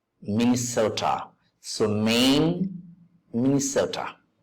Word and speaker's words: Minnesota: Lane pain Main Sota second syllable is stressed Minnesota so Main misota pronounce